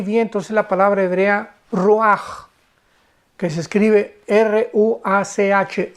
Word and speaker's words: ruach: Y encuentra ahí, ¿verdad?, que 4 espíritus, porque la palabra aquí vientos es la palabra hebrea ruach, que se escribe R-U-A-C-H, ruach, pero se pronuncia ruach.